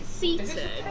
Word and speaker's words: seitan: Is it seitan? Is that how you say it? Satan. Satan, like the devil. That's how I remember it.